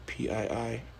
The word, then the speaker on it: Pii: Enter the now infamous Chef Carly PII, pronounced P, and her pink sauce.